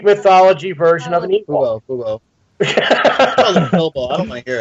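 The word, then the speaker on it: Bubo: Boo-bo. I don't want to hear it. Because you mispronounced it and you threw me for a loop. It's Boobo.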